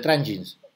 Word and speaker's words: Tranjis: Dicen, ah, los de Trangins. O sea, es la J como la pronunciamos.